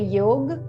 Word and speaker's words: yoga: call in sanskrit so many times in the sanskrit we are not pronouncing the last a so for example when we say yog it means yoga yog when we say asana we say asan we say pranayama pratyahar so